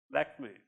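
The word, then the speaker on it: Lakmé: Lakme, you say like me.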